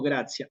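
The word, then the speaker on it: gratia: Entonces, si aparece una vocal después de la I y la A, esa palabra la paso a pronunciar como gracia.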